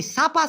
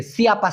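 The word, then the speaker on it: siapa: ভাই জিজ্ঞাসা করছেন ভাই ছাপা ছাপা মানে কি একটু বলবেন মূলত ভাই এই শব্দটার সঠিক উচ্চারণ হচ্ছে সিয়াপা সিয়াপা আমরা তো আন্দাজে একটা বললে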